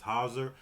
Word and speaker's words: HAUSER: We're going to be getting into HAUSER. I believe that's how you pronounce it. It's HAUSER.